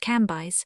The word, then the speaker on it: Cambis: There were in Madame de T.'s drawing-room old, noble, and very venerable ladies, who called themselves Mathone, Levis pronounced Levi, and Cambis pronounced Cambyse.